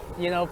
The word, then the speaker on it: Playa: So the name of this beach is Playa like a player, Playa, and then Las, and Playa La Perla.